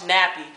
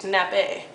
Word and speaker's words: nappe: it to me like oh I want your sauce nappy I'm like how do you have a nappy sauce and then someone had to slowly pronounce it to me it's nappe so I want a nappe sauce and you know how